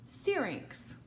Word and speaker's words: syrinx: look up how to say it right now syrinx syrinx that's how you say it there's actually